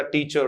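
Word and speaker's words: teacher: ठीक है, रे तो बोला ही नहीं जाता टीचर। किसी भी वर्ड के एंड में आया हुआ रे प्रोनाउंस नहीं होता। आई एम नॉट ए टीचर, मदर, फादर, ऐसे वाला बोलते हैं, पॉसिबल ही नहीं है मित्रों। एंड में आया हुआ रे कभी भी प्रोनाउंस नहीं करें। तो फादर, मदर, ब्रदर, सिस्टर, उसी प्रकार से टीचर, डायरेक्टर ऐसे बोला जाएगा, ड्राइवर।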